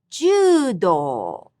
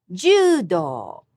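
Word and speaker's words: 柔道: Judo, judo. Same pitch for the traditional martial art of fighting with bamboo sword, which is kendo, kendo. The art of traditional calligraphy is shodo. All these have high-low pitch accent.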